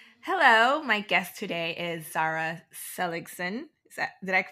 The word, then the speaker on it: Zara Seligson: Hello, my guest today is Zara Seligson. Did I pronounce that correct?